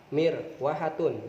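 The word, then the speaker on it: مروحة: Dibacanya apa? Mirwahatun.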